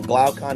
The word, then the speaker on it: Glaucon: how to pronounce these but I'll say my pronunciations keus and poom Marcus uh and then glaucon and adim mantis the brothers of of of